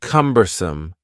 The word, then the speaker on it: cumbersome: next word is cumbersome the word cumbersome has three syllables and the stress is on the first syllable cumbersome cumbersome something that is cumbersome